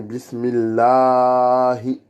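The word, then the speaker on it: بسم الله: Et après, on redescend avec le hi, qui est le ha dans la profondeur de la gorge, qui fait trembler la poitrine en même temps qu'on prononce. Allahi, c'est pas le ha de Alhamdulillah.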